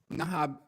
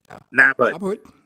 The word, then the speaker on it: Habhood: And you being this established, esteemed rainmaker in my books, tell us, what is Nahab? Did I pronounce it? Nabhood.